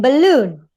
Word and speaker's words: balloon: Why in balloon? Because this one is weak, and this one is weak.